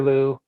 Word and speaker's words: Luu: by the name of Peter Lou. His last name is spelled Luu.